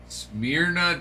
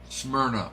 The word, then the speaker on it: Smyrna: Smeirna, Tennessee. Did I pronounce that correctly? Smeirna lived in Nashville until his family would move to Smeirna. Smyrna. Okay. Smyrna. Got it.